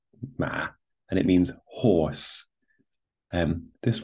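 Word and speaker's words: 马: So, this character here, ma, is pronounced ma, and it means horse.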